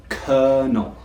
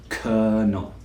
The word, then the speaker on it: colonel: It's not pronounced anything like the spelling, but this is how we say it.